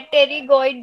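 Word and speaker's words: pterygoid: पेट्रीगॉइड। इसमें P silent है। टेरिगॉइड जो है वो स्कल की बोन है।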